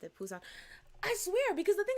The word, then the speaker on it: Busan: Kenneth said some say Busan because I forget how to pronounce that, but that letter is supposed to be a P.